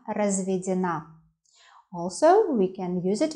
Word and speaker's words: разведён: Feminine form, feminine short adjective, is я разведена. Also, we can use it in plural. Мы разведены. Итак, я разведен, the stress on ё, я разведен.